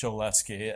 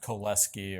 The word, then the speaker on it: Cholesky: so um sheski um was French not polish um and I'm fairly confident that his name is pronounced sheski and not keski or um koleski or something like that